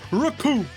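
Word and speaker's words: Recoome: The name's Raccoon and it rhymes with doom, and you're gonna be hurted all too soon.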